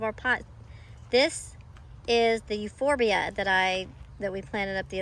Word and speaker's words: Euphorbia: When you use AI Translate, it calls it euphoria. Euphorbia.